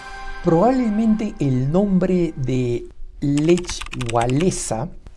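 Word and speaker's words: Lech Wałęsa: probablemente el nombre de lech walesa o como se pronuncia en polaco le baesa les resulte poco común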